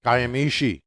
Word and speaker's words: Kiamichi: And so he's going to give us hell for mispronouncing things. Kiamichi. Well, there you go. Okay. We get it. Kiamichi.